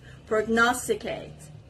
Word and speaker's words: prognosticate: abounds with wild life the next word is prognosticate prognosticate and the stress is on the second part prognosticate it's a verb and